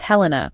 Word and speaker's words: Helena: So, Elena, he said, getting my name wrong. It's Helena, pronounced the Portuguese way, but he refused to try.